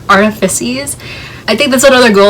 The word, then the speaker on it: Artifices: the dark artifices also i didn't know i was pronouncing that wrong this whole entire time i used to say dark artifacts it's the dark artifices i think that's another